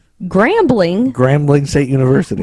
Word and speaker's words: Grambling: It rhymes with perambling. Perambling? Yeah. That's not a thing. It's not, but it rhymes with that. What? Grambling. Grambling? Grambling State University.